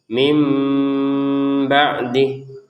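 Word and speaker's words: مِنْ بَعْدِ: Sehingga yang awalnya terbaca min kemudian terbacanya mim. Kemudian ada unsur ada unsur samarnya antara min sama ba ini sehingga terbacanya mim ba'dih.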